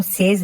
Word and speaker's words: says: नो वन सेज that. तो देखिए ये जो SAYS है इसको हम सेज नहीं बोलते बच्चों, इसको हम प्रोनाउंस करते हैं सेज।